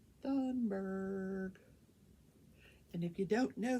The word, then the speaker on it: Thunberg: about greta fenberg i think that's how it's pronounced thunberg thunberg and if you don't know who she is